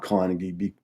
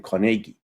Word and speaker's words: Carnegie: I think the Scots pronounce the name Carnegie. Is that right? It's Andrew Carnegie.